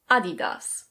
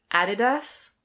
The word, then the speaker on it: Adidas: This one is a German brand and in German it's pronounced Adidas. Adidas. But in English we either say Adidas. Adidas. Or: Adidas. Adidas.